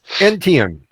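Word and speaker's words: Etienne: Travis Entian. All right. So, uh, Travis, uh, pronunci a T and an N. ETN.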